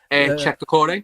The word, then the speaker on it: Cheick Doucouré: Cheick Doucouré.